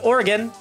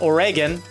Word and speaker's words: Oregon: of Oregon oh my gosh oh god it's pronounced Oregon not Oregon not Oh Reagan yeah I was listening to a podcast a